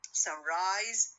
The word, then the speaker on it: sunrise: Two nouns, if the compound word consists of two nouns, so it normally has the stress on the first element.